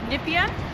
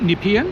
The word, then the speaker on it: Nepean: Also wir sind jetzt am Point Nippien. Nipen. Ja, wir haben uns jetzt also die korrekte Pronunciation ist Nippen.